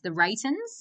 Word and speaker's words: The Reytons: The Reytons? Well pronounced, yeah. Oh, nice. Okay, sweet. And so the Reytons, like the word Reytons, and it's roughly translated, it's the right ones.